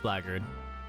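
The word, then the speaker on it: blackguard: dock and and and that is pronounced blard and basically blackard means bas is basically just a word for bastard anyways or like an unscrupulous sort.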